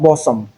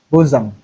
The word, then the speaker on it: bosom: It's not bosom, but bosom. Then we have the unusual spelling of the U sound, which appears in this particular word, Worcester.